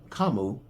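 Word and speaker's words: Kamu: I want to get that name right because last season someone put a message in it that I was saying Keanu's name wrong. And I was calling him Kinu, just like I'm calling this guy Kimo, which is what the correct way for this season.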